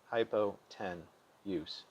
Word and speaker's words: hypotenuse: T-E-N, and use, U-S-E, hypo-ten-use. That may make it easier to spell, but make sure to pronounce it fluidly, hypotenuse.